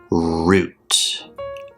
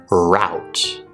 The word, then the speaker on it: route: Well, if you're talking about British English, you would definitely say root. Root. So you use the long oo sound in words like shoe or who.